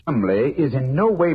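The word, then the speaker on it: Cholmondeley: had no reason to know that the name Chumlee is in no way pronounced the way it is that name spelled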